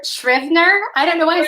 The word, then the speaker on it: Scrivener: I say Scrivener, but it's not like I've said this to a lot of people. It's not a word that I use loud very often. I say Scrivener.